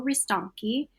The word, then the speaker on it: Ristonchi: It's Castello Ristonchi. For the Americans, it's spelled like Ristonchi, like the CH.